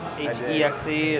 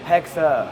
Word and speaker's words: Hexe: __ ] sexy the H exe and that was it I mean we just changed the name no one knows how to pronounce it hexa hexa not hex so now we're going